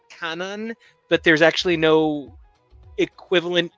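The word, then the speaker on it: Kwannon: original new character named quanen who was actually pronounced Canon but there's actually no equivalent name cannon in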